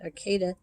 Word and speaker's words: Arcata: to fortuna and eureka arcata is another arcade i guess they pronounce it arcada it's a little town